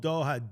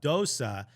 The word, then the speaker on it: Doha: saying like the you know Rob Stone uh mispronounced the word and he says from the moment that stone called Doha Dosa ahead of the Opening match between the capital